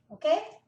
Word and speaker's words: og: O a gente não pronuncia o g, fica o. Existem lugares que falam Og, mas não é normal em ózulo, na capital da Noruega, eles falam o meretin tarostin.